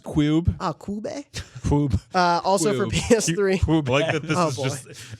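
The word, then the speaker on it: Q.U.B.E.: Am I supposed to say Q-U-B-E? Or just... It's pronounced Cube.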